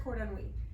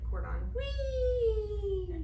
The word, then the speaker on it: cordon bleu: Yeah, where's cordon bleu? I was gonna say you Something like maybe mispronounced it because most people call it cordon wee.